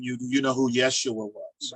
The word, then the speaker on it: Yeshua: to Israel um it it won't be pronounced Jesus it'll be pronounced Yeshua Yeshua yeah would be pronounced